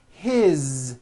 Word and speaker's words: his: you hear that is his same thing it also has a voiced Z ending his mom is Mary